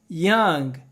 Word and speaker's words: young: um cara novo aliás a gente não pronuncia o o nessa palavra não é Young e